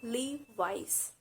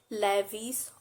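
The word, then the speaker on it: Levi's: common clothing brand and it's leave leave wise it's not levees or louise it's leave wise you might have seen its apostrophe that's why it's called leave vice next brand which i'm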